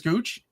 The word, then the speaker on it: Gooch: Gooch, is that how you pronounce it, sir?